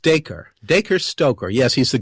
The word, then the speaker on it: Dacre: great-grandnephew, which is, now, correct me if I get his name wrong, is Darkrai Stoker? I think it's pronounced Dacre.